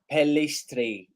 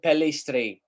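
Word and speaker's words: Pellistri: so oh what apply by police pelistry I think that's how you pronounce his name palestre yes what's my talent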